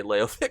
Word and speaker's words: Leovic: Uh, please like the video because I knew how to say Leovic correctly.